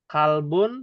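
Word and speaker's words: كلب: Kalbun tulisannya pakai kaf. Hmm. Kolbun pakai kof.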